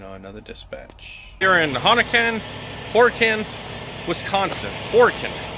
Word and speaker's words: Horicon: Here in Horicon, Wisconsin. Horicon, that's how you pronounce it. Horicon, Wisconsin.